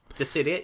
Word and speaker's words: Dissidia: Dissidia 012 Final Fantasy. Okay. Yep. Okay, did I pronounce that right? Dissidia, yep.